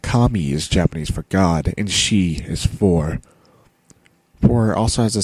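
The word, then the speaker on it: 四: Japanese for God and she is for also has a special connotation in Japan though it's considered an unlucky number because it's pronounced the same way as their word for death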